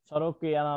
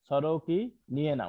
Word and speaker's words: sorokiniana: সরোকিয়ানা না, সরোকিনিয়েনা উচ্চারণ শিখবা।